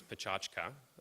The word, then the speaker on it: pecha kucha: but it's referred the format is referred to as vachaka it's spelled pecha kucha some of you may